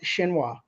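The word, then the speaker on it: Xinhua: China's State Wire service I believe that's pronounced shinoa now here we get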